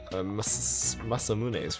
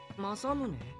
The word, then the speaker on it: Masamune: want Kakeru's root or Masamune's root. How do you say it? All I know is it's not Masamune. Okay. I doubt either will complain much. Kakeru? Masamune? Masamune. That's how you say it.